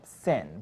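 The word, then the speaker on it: CIN: And then, because the CAPE has a counterpart we like to call SIN, but not spelled with the S.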